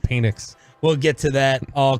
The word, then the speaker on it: Penix: It's pronounced Penix.